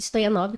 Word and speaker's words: Stoianov: Stoyanova? Como é que é seu pronúncia?